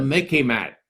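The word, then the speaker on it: MICIMATT: Instead of the MIC, instead of the military-industrial complex, we have what I call the Mickey Mat, okay? You can remember it. It sort of rhymes with Mickey Mouse, but it's much more serious, okay?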